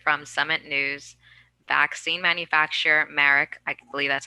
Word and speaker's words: Merck: this recently reported from summit news vaccine manufacturer marek i believe that's how you say it has